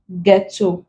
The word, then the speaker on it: ghetto: Then also after R and G, we do not pronounce it. Giving examples, rhyme, rhythm, rhinoceros, ghost, ghetto, ghastly, aghast. The is coming after the G and we do not pronounce them.